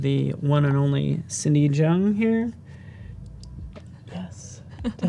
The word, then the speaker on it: Zheng: If you're just joining us, we have the one and only Cindy Zheng here.